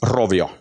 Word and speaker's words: Rovio: Can you please pronounce Rovio again? Rovio.